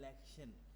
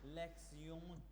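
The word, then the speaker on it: Lektion: ये जो आप देख रहे हैं ये लिखा है आपके सामने लेक्शन, लेकिन जब हम इसको प्रोनाउंस करते हैं TION का स्यून, यानी ये हो गया लेक्सियोन 1।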